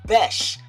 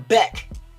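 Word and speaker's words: Bech: And it's and and our wide receiver name is Bes. Like it was spelled B E S H. Bes. I be hearing Beck. I'm like, "No, that's not Beck. That's Bes."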